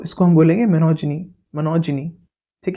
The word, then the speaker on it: monogyny: अगर मैं आपको बोलूँ मुझे इस वर्ड का मतलब बताइए, MONOGYNY, इसका मतलब होता है, इसका प्रोनाउंसिएशन है मोनोजिनी।